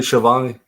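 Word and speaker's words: Schiavone: I was like, that's not you pron you pronounce Shiovani. Shiovani.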